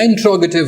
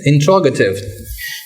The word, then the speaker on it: interrogative: जब आपका sentence नेगेटिव हो या इंट्रोगेटिव हो, इसको लोग इंटेरोगेटिव पढ़ते हैं, ये गलत है। The right pronunciation is interrogative.